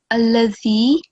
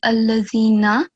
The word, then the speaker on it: الذي: And the other thing is that here, allazi, you mistakenly read allazina.